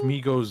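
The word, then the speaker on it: Mego: Next up, Migos, it's actually I believe pronounced Migo.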